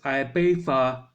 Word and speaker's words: Ibiza: England Spain is Ibiza, pronounced in the UK as Ibiza, Torremolinos, wherever the fuck that is, Tenerife, Majorca, Lanzarote, and Benidorm.